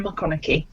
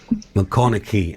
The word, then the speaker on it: McConachie: it's just absolutely owner mcconaughey mcconaughey okay mccoy like matthew mcconaughey but spelt with a ch instead of a gh okay here we are